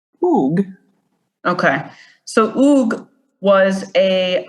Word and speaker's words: Hugues: De La Plaza okay it's pronounced oog oog okay so oog was